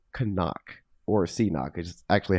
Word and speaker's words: CNOC: I thought it was so it is appropriately pronounced kanak right yes that is correct okay okay uh